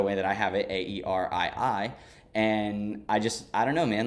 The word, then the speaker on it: Aerii: that word, and I found the word Aerii, but it's spelled Airy.